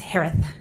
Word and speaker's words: Herath: Last name is pronounced like Harris with a lisp. It's Herath.